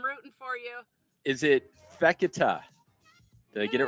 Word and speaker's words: Fekete: Is it Fekete?